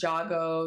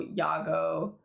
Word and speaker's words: Yago: to the character, but a lot of people don't know how to pronounce this name. They say like Jago, Yago, and everything, and I just like forget because I'm so used to it, but it is indeed Yago.